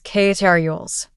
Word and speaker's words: carols: You might hear people say carols or carols, but neither is quite right. The correct pronunciation is carols.